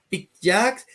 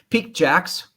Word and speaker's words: Piqued Jacks: don't know if it's picked Jacks because jacks or how do you pronounce it well yeah we like we like to play with you it's uh but it's Peak Jacks picked Jacks and uh so well